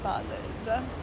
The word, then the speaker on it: vases: It's pronounced vases.